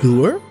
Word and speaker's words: dour: Louisois in a less dour setting. But it seems I just missed you. Dour? Is it pronounced dour? I was pronouncing it dour.